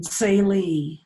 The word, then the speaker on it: Tsaile: And she's been to the Navajo Nation, where I have seen her perform many times in Saile, that's spelled Tsaile, at what used to be known as Navajo Community College, now known as Diane College.